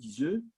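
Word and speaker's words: Iseut: ou de Tristan et Isolde, mais, ou Iseux, selon la prononciation, mais il y a aussi une dimension mystique extrêmement importante.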